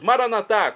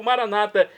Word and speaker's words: Maranata: aramaico dialeto de Jesus maranat como dizemos nós católicos ou Maranata como dizem nossos irmãos separados os evangélicos ou protestantes não importa a pronúncia o significado é o